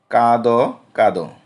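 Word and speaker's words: কাঁদ কাঁদ: এবং শেষে যে দ আছে এই দয় একটি লুপ্ত অ রয়েছে, যেহেতু কোনো কার চিহ্ন নেই। তো কাদো কাদো উচ্চারণ হলো কি কাদো কাদো।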